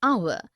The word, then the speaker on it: hour: air an honest an hour because the words air honest and our begin with the vowel sound as the initial consonant h is not pronounced article 1 we use